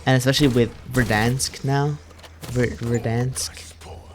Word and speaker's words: Verdansk: Verdansk, right?